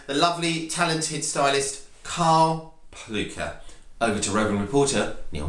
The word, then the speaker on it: Plewka: First and foremost, tell me, where does the name Plewka come from? Well, Plewka, which should probably be pronounced Plewka, is from Prussia, which is a former kingdom of Germany.